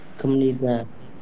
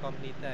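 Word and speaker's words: 큽니다: Kemnida. Bukan komnida ya.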